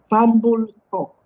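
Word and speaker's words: Fambul Tok: Yeah, How do you pronounce it again? fambul talk.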